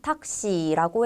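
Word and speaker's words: タクシー: 일본어로는 탁시라고 해서 시 발음을 장음으로 해 줘야 합니다.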